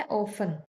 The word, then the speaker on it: often: Next word है ऑफन। ऑफन का मतलब होता है अक्सर। इसके स्पेलिंग होते हैं ओ, एफ टी ई एन। लेकिन टी इसमें साइलेंट होता है।